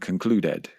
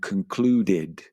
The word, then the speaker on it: concluded: It's very common to hear people express these verbs phonetically. For example, observed, crashed, and concluded, when in fact they should be pronounced observed with a d sound at the end, crashed with a t